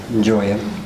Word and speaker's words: Joya: Well, the director, Phil Joya, is how it's actually pronounced, was there roughly about 6 months.